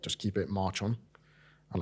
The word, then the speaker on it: Marchon: I remember at first I did it on a slant, because their kind of thing was to say it's like march on. So it was like, rather than how you pronounce it, like Marchon, Yeah.